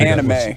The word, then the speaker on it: anime: I don't think so but Benson oh it's pronounced anime yeah I thought it was we're your teammates